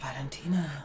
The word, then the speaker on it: Valentina: But you have to say it like that. Valentina.